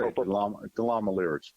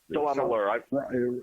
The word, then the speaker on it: DeLamielleure: Joe DeLamielleure, as I mentioned earlier, was inducted to DeLamielleure. DeLamielleure. It rhymes with Cavalier.